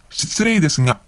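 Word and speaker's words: 失礼ですが: 失礼ですが。失礼ですが。 Or, 失礼ですが. So the ga syllable can also be pronounced as nga.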